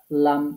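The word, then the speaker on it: ل: দাঁতের মাড়ির সাথে লাগিয়ে জিহবার আগার কিনারা উপরের দাঁতের মাড়ির সাথে লাগিয়ে লাম উচ্চারণ হবে জিহ্বার আগা এই যে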